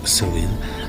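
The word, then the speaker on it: Samhain: ça peut être sen donc ça s'écrit Samain mais ça se prononce son donc c'est le fameux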